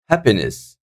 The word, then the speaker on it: happiness: the first one survive happiness happiness that is the first syllable guys happiness I'm not saying happiness or happiness I'm happiness so the first syllable is having the stress on it afid afid